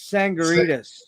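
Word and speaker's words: Tsangarides: um this was this was produced by Chris sangaritas yeah is how you pronounce it um sangaritas yeah Chris tangaras yeah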